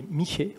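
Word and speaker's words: Mixe: du sud du Mexique les michés on dit ça s'écrit mix miix ouvrage intitulé Le chemin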